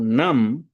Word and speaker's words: nam: Um detalhe interessante eh de pronúncia é que se a gente for pronunciar certinho, certinho o nam, a gente vai pronunciar na. O M final apenas nasaliza a vogal.